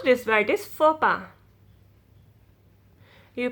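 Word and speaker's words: faux pas: looks at letter x there aren't many words with a silent x you you don't pronounce x x will be silent you pronounce this word is fopa you pronounce this white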